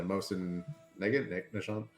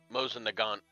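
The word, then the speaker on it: Mosin–Nagant: Number of forgive me if I'm not pronouncing it right. The Mosin Nishon. Mosin Nagant.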